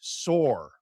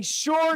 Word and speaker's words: saw: It's not pronounced sore. I saw John walk into the door. S-A-W. Do you see an R in there?